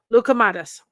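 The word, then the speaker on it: loukoumades: Lukamadas.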